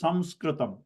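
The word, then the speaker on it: संस्कृतम्: If it is written with anuswara, you pronounce as Saṁskṛtam. Okay. Okay. Because if you have to pronounce na, there should be a na. There is no na there to pronounce it Saṁskṛtam.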